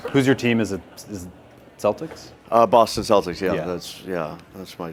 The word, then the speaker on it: Celtics: I called them the Celtics the other day, and people just started beating me up. I was like, Celtics, what are you talking about? That's the original pronunciation, right?